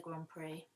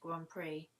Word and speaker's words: Grand Prix: howard we watched the grand prix you don't pronounce grand prix how it's written dear diary the x is silent this is why french